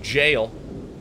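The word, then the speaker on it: Evergaol: a bear did that enter the evergowl again that is pronounced jail i do know who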